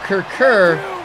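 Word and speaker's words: Kurkure: learn about Kirk Kirk and uncle ships okay Kirk er which is spelled ke you are ke ure is in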